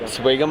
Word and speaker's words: Swigum: Is it Swigum or Swigum? Swigum? Okay, you pronounce the W.